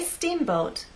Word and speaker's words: steamboat: so when we say steamboat I want the first part to be loud in the second part to be softer let's try that steamboat